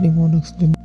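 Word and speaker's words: mnemonics: इट is pronounced as निमोनिक्स।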